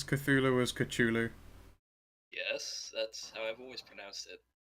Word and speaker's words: Cthulhu: Cthulhu yes it's wrong if you wanted to be tech super technically accurate it should be pronounced with a cave sound yeah and the heart team Oh actually if you follow the South the Sonic the C is silent language yeah I wish